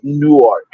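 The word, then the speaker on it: Newark: I say no right the actual word is new ark but listen to How I sound saying that dumb new arc I gotta annunciated two words new arc two syllables I've been saying no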